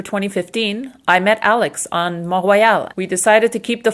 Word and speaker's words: Mont Royal: So today, while we were shooting the intro for 20 Dreams for 2015, we were on Mount Royal in Montreal. I have to pronounce it properly. I'm Quebecoise.